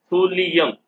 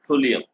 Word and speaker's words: thulium: Pronunciation thulium, not thulium.